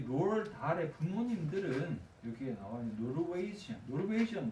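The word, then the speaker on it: Roald Dahl: 그래서 여기 위에 있는 롤 달이라고 할 때 이 롤 달 이게 약간 이 식으로 읽으면 드가 좀 약하게 발음돼서 그런 건데 이 롤드 정확하게는 롤드 달인 건데 이 롤드가 롤드 아문젠의 이름을 딴 거죠.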